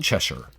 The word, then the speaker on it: Cheshire: The ending S-H-I-R-E. shire, it's actually sure, pronounced sure, like Cheshire. Yeah, like Berkshire, not shire. Not Shire, not Shire. It looks like Shire, but it's sure.